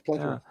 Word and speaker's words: plethora: So here's the plethora of, and yes, I am pronouncing the word right. You are. Really, I used to say it was a plethora. No, it's plethora.